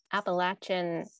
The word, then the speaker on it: Appalachia: north carolina kayla earned a bfa at appellate appalachian state university and works with ceramics and painting